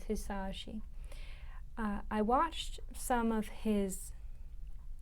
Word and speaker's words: Hisaishi: I was saying his name wrong in the other videos. His name is Hisaishi.